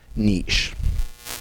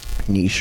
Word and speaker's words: niche: small portion of that niche Niche or Niche was both acceptable pronunciations and so maybe it's